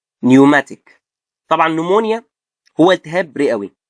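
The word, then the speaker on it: pneumatic: بي بعدها ان هنا هتبقى ايه؟ البي سايلنت. فهنقول ايه؟ نمونيا، نيوماتيك.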